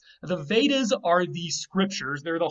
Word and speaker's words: Veda: The W has turned to V already in Sanskrit. So you have the word Veda, which comes from weid.